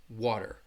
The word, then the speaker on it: water: same with the word if I were to say this word right here water and I would pronounce it it's going to sound like a little bit like a D sound water water okay so let's see